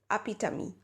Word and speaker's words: epitome: you see epital epitome e well the actual pronunciation for this is a PITA me epitome ah P da me so if you're using